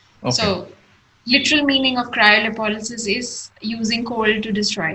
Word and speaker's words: cryolipolysis: What is cryolipolysis? If I did I pronounce it right?